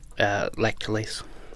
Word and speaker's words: Lactalis: And then they'll pay Lactalis, is how you say it.